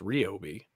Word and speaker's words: Ryobi: for those out there that like ryobi it's pronounced ryobi is it really yes but actually if you